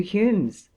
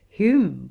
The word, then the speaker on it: Hume: such as the 2 Humes, (David Hume and John Hume, spelt Home, whose names had the same pronunciation), Robertson, Smith, Wallace, Blair, Ferguson, Wilkie, etc.